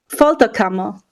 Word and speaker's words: Folterkammer: me I'm gonna need help with all these pronunciations okay no problem the name of the band is fto camo yeah I would have never got that so